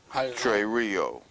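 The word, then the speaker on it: τηρέω: Trey Rio 5083. Trey Rio. Trey Rio. Right. It's spelled T E R E O. Okay. But the way it's pronounced, it's T A Y R E H O.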